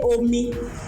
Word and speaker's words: omi: How many syllables? O, me, which is 2. O, me. Water. What is omi in Yoruba? Is water. Water. Water. So omi. What is it? Yo? Re, re. Re, re. Omi.